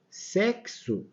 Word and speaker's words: sexo: sexo afixar e inexequível olha aqui ó sexo repare que esse X Ele tem um som de KS tá sexo Ok da mesma